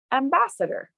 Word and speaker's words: ambassador: sitter center center then add the primary stress syllable bassetter bassetter and then put the whole word together ambassador let's try a phrase shall we how about